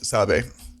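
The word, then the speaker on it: Sabé: Now that I'm in a video here, I'm going to be self-conscious how to pronounce it. Sabe? Okay, so it's Sabe. According to this, Sabe.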